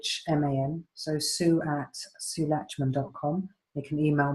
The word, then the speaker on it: Lachman: And although it's pronounced latch, like in, you know, key latch, it's Lachman.